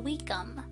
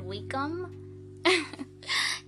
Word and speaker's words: Wickham: Wickham. You know, his name kind of rhymes with wicked, as in Wicked Wickham.